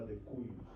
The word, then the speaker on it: de cujus: El, en este caso, el difunto o el que está dejando la herencia se llama de cuyus. Decuyus. Se escribe de cujus en latín. Decuyus.